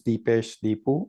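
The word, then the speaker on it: Dipesh Dipu: Yes, my name is Deepesh Deepu. It's spelled D I P E S H D I P U and by whom are you employed and in what capacity?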